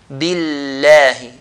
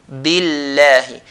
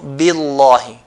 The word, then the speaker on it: بِاللَّهِ: If the previous letter has a kasra, the E sound, then we're going to pronounce it lightly. So, billahi, billahi, and not billahi.